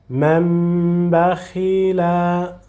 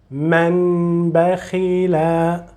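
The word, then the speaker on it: من بخل: So from the first meme with vowel to the second meme, mam, mam, not man, mam, mam bakhila, mam bakhila, not man bakhila, mam, mam, mam bakhila.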